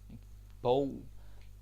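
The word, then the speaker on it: bog: of course means book bow this is kind of funny like if you look at the spelling and then think about the pronunciation it's almost like a bow just shorter b b b b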